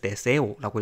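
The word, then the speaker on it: deseo: 그래서 여기 있는 데세요, 이 소원, 소망이란 뜻인데, 이 단어는 뒤에서 두 번째인 세의 악센트가 오게 돼요. 그래서 데세오라고 읽으면 되고요.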